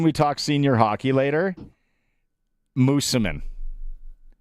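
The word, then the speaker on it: Moosomin: Mooseman. Mooseman, not Moose-O-Min, like it's spelled.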